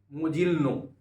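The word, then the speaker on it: Mogilno: Kurt Lewin was born in मोजिल्नो. इसका spelling MOGLNO, मोजिल्नो पढ़ सकते हैं.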